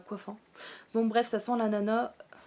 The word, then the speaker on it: ananas: Bon bref, ça sent l'ananas. On dit l'ananas, mais moi je prononce jamais le S à la fin.